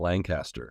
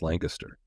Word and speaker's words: Lancaster: Lancaster, I remember the pronunciation. It's not Lancaster, it's Lancaster.